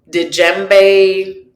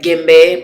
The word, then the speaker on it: djembe: I think in English people pronounce it djembe. Personally, we call it gimbe, but I've been practicing